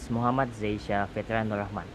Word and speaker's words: Muhammad Zaisya Fitriannuur Rahman: My name is Muhammad Zaisya Fitri Nurahman.